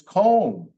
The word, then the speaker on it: comb: A couple of other ones, comb, like the comb when you comb your hair. It's not comb, it's comb.